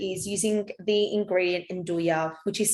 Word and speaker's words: nduja: of you to is using the ingredient in douya which is spelt n-d-u-j-a it's pronounced en do ya and it's a i think a calabrese like